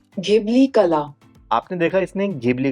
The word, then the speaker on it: Ghibli: अगर मैं इसे हिंदी में बोलूंगा तो इसे घिबली बोलूंगा।